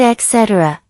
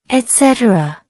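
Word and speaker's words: et cetera: If you said etc., that's a very common mistake. The correct pronunciation is etc. etc. Let's break it down. Etc. That's 4 syllables. Notice the stress on set.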